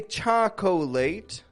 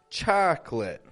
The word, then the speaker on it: chocolate: to do this too we do not say chocolate as I mentioned but rather chocolate chocolate I'd like some chocolate